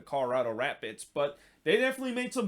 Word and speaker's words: Colorado Rapids: of this week and i actually uh put the wrong pronunciation in terms of the rap bits there should be an s after they're not the colorado rapid they're the colorado rapids but they definitely made